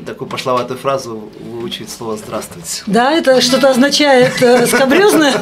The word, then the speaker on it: здравствуйте: Ну да, 4 согласных подряд, да еще такие сложные, какая-то шипящая, какая-то свистящая, это и для нас непросто.